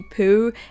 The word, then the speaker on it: Pou: up playing it and we always pronounced it Poe like Edgar Allan but during my research